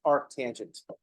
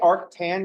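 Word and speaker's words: arcus tangens: but with arc tangent you can pronounce that as arc tangent GNA put a pronunciation got underneath just say Arc and then tangent don't say Arc tan because now you're just reading the abev I mean we don't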